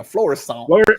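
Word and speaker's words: Florissant: here from Floresant Missouri that's how we would pronounce it in South Louisiana florescent florescent yeah it's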